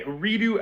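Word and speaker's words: أريد: That would be uridu.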